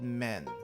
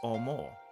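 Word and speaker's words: 面: perfect sense omo uh this one is actually has another pronunciation it's called men and we're not talking like men as in Raam men we're talking about men as in face this is literally one of the kanji for face but in this in this uh vocabulary it's pronounced pronounced as omoo you're literally saying white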